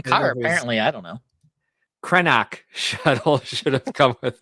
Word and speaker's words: Krennic: Krenak shuttle should have come with us. Yeah. Who's Krenak? That's the correct Corsanti pronunciation of Krennic, of course.